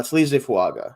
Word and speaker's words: Fuaga: a little bit uh fuaga or fanga actually we found out so with an N it kind of sounds like there's an n in there I found out recently is how you say it um out of